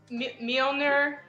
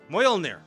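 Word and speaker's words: Mjölnir: It's like Mjolnir. Mjolnir. Mjolnir. I put the wrong emphasis on the wrong syllable.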